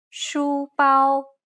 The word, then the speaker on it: 书包: 包 The key point here is to keep it even across the whole syllable. 书包 Now you try.